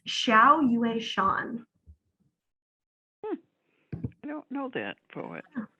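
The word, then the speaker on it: Xiao Yueshan: the author's name again let me look it's xiao you a sean i don't know that poet interesting how do you spell that nicole it's chinese so it's x i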